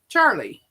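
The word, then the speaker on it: Charleigh: She spells it C H A R L E I G H. Charlie.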